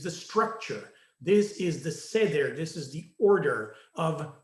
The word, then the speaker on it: Seder: an event called the Seder, right? And the word Seder, or Seder in English pronunciation, means order.